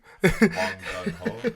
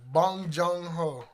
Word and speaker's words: Bong Joon-ho: Bong Ho. Did you say his name was? No, bro. Bong Joon-ho. I'm sorry. We probably all pronouncing this shit No, wrong. Bong Joon-ho.